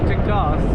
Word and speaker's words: Teguise: The Google map pronounce it as teas. So I believe that's how it is pronounced.